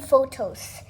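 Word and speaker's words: pothos: Yeah, the golden photos. Wait, not the photo like what you get from the camera. It's spelled P-O-T-H-O-S. Instead of the H with the P, it goes H with the T.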